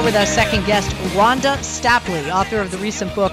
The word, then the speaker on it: Stapley: Is it Stapley or Stapley, so I say it properly? It's Stapley.